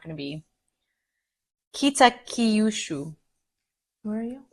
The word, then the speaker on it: Kitakyushu: And the city where this nursing home is, see, anything I try to pronounce in Japanese, it's not going to be Kitakyushu. Where are you? Right there. Yeah. Kitakyushu.